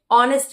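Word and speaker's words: honest: ह का प्रोनंसिएशन नहीं आ रहा है।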